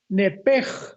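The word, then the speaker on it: נפש: Pero la la sh en el hebreo se pronuncia como J. Entonces se pronuncia nepeg con la J al final.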